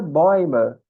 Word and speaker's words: Bäume: Então, no plural fica boima. No singular é Baum, por exemplo. Isso acontece porque com o trema que você coloca aqui no A, ele vai ficar similar ao EU e, portanto, a gente vai ter que colocar essa pronúncia nele também.